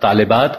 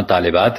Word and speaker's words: طالبات: کی جمع طالبات ہے، لیکن اردو میں طالبات میں لام کے نیچے زیر بالعموم نہیں پڑھا جاتا اور یہاں بھی لام کو ساکن کر دیا جاتا ہے، تو اس سے بھی تلفظ غلط ہو جاتا ہے.